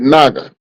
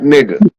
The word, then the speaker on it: Naga: He becomes the fully seven-hooded naga. Right? Not nigga. Naga. Naga, that's different. Yep, it's a different.